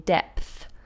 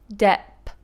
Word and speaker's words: depth: the TH sound in depth? Your tongue isn't involved with the P. It's your lips for P. Dep. My tongue is there. Depth. You see, my lips explode and my tongue pushes through.